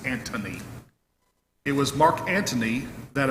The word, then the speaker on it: Antony: and mark ant anthony i always thought there's an h in there anthony but it's antony it was mark anthony